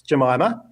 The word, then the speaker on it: Jemima: Her name is Jemima. The first syllable is unstressed, so she often called herself Mima.